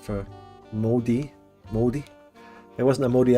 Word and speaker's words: Māori: You say like mouldy bread, so mouldy. Moldy.